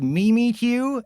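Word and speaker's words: Mimikyu: to pronounce Pokemon names, and I replied, it's pronounced Mimi Q, and it's pronounced Lony, and it's pronounced Cranyos, and uh it's pronounced uh technically Gardevoir is pronounced both ways.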